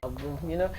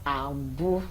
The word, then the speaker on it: Abu: I love the way I pronounce that, Abu. Somebody taught me how to put magic to your name. So don't just pronounce it with class. Abu.